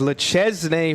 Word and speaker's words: Le Chesnay: The answer of the city he's from in France is Le Chesnay, France.